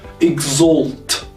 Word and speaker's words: exalt: Okay, so the A here is spelled as O, exalt.